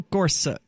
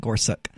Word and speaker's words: Gorsuch: been talking about Neel Corsa it's so hard for me not to call him Korsak I mean simply because that is how I've always pronounced it I thought that's what it was he does suck but